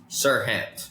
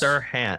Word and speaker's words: Serhant: Greg, what is the, how do you pronounce his name? Is it Serhant? Serhant, yes. Serhant.